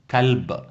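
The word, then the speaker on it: كلب: Anjing ni dalam bahasa Arab disebut kalb. Kaf, lam, ba. Kalb.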